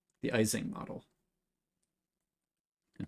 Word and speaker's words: Ising: this being called the ising model and people might pronounce this differently it might be called like easing model as well but basically it's a